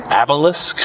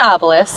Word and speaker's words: obelisk: there's a white obelisk how do you say that word I have no idea you heard that word before habilis no see how it's spelled obelisk what they have a Midwestern accent that probably doesn't help anything it's an obelisk an obelisk so everyone knows that